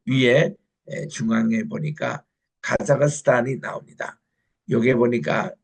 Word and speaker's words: 카자흐스탄: 그 위에 중앙에 보니까 카자흐스탄이 나옵니다 여기에 보니까 이분들 그 발음이 가사인데 스탄이 카자흐스탄 이게 그분들의 정확한 발음이라고 그래서 이제에 카자흐스탄은 워낙 이게